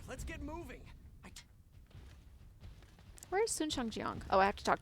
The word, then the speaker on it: Shangjiang: So they pronounced the A correctly there, Shangjiang. But in the narration, it was the Western ang sound.